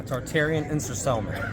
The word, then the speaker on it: Tartarian Ensorcelment: How am I pronouncing this right? Tartarian Ensorcelment? Yeah, Tartarian Ensorcelment. Okay, so I'm not too bad.